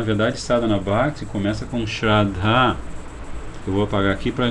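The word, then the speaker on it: श्रद्धा: Com A longo, o último A é longo, né? Então você pronuncia Shraddha.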